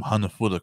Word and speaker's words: hanafuda: from they came from hanafuda cards and they are pronounced it is pronounced weird it's hana fuda like hannah's food yeah yeah and then throw an ah at the end of it just for some attitude